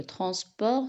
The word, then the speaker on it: transport: T, c'est une lettre muette. Il ne se prononce pas. كتكتب وما كتقراش. Le transport scolaire.